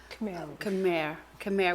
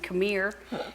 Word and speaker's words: Khmer: Khmer. We always talk, I say it like Texan, Khmer. It's Khmer Rouge, the Holocaust.